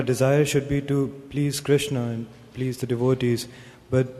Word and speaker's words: Krishna: just this wonder of krishna what what is this name of krishna it's two syllables krish and not i mean if you